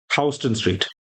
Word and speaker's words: Houston Street: The commissioner's plan of 1811 which laid out the grid scheme of Manhattan above Houston Street. Hston Street. It's not Houston. No, it's pronounced Hston Street.